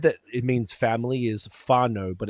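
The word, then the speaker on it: whānau: it means family is faro but it's w h a n a u but it's pronounced f I know because I grew up with so many kiwis.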